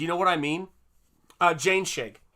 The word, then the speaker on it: Jainschigg: Jane Shig. Jane Shig is how you say his last name.